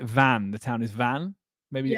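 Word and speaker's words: Vannes: I can't is it I think you pronounce it van the town is Van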